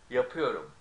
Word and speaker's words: yapıyorum: Now, when it's positive, the column on the left, we stress the of ıyor. Okay, so it's like this: yapıyorum, yapıyorsun, yapıyor, yapıyoruz, yapıyorsunuz, yapıyor, or yapıyorlar. See?